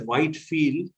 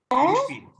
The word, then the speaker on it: Whitfield: I put it so that you will not pronounce it as Whitefield. Okay, it's pronounced as Whitfield.